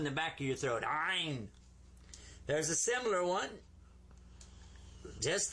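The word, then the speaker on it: ʿayin: In Ein, you kind of squeeze the back of your throat when you pronounce this one.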